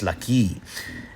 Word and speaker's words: ለኪ: at the end of the word, it's still pronounced as if there was one there. It's laki.